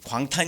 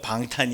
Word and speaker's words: 방탄: 그 큰일나 방탄 거기 광탄 이 아니고 발음을 잘 못한 거예 요 방탄 입니다 4 방탄소년단 그처럼 예수님도